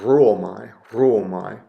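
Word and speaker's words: ῥύομαι: We have an example here of a rough breathing mark with a rho, and it really doesn't add anything significant to the pronunciation. So you don't go, ruomai. Maybe you give a little bit of a trill to the R, ruomai.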